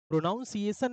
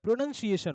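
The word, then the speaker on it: pronunciation: बातचीत होती है ना बहुत सारे लोग बोलते हैं या प्रोनाउंस प्रोनंसिएशन होता है प्रोनाउंस एशन नहीं होता है प्रोनंसिएशन होता है आपके इंटरव्यू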